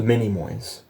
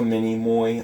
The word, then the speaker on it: Minimoy: and Arthur and the mini moys what is a minimoy not minion many more and it's spelled m-i-n-i so mini like Minnie Mouse like Minnie am I and I and then Moy m-o-y and I'm typing in